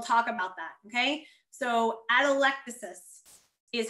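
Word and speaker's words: atelectasis: types and we'll talk about that okay so adolectasis is how you pronounce this and again it is the term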